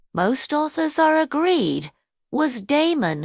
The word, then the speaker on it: Damon: authors are agreed was Damon whose name they say ought to be pronounced with the first syllable short though Aristotle tells us